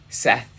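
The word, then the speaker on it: Sethe: The idea is that Seth, S-E-T-H-E, I pronounce it Seth, it might be Sethi.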